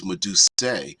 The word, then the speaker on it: Medusae: Deadman says the plural is Medusae, a long A at the end.